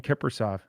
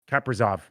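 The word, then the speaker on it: Kaprizov: i would have been kippersoff he's real kippersoft he is i don't know if that's the right pronunciation is it no it's not it's not no it's uh it's uh kappazov what is it it's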